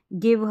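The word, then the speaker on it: give: गया गर्ल हो गया यहां पर जी के बाद में आई आया है जी के बाद में जैसे यहां पर बोला कि जी के बाद में आई रहेगा तो ज पढ़ेंगे लेकिन यहां पर ग पढ़ा जा रहा है तो ये स्पेलिंग्स आपको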